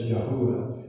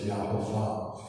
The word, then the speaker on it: Yahovah: few more that says it's Yahuwah. So we don't argue about those things, but we certainly do know that it is the name of our Father in heaven, and from our studies, we just pronounce it as Yahovah.